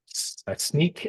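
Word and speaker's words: Snyk: Um, Sneak apparently is how you pronounce it.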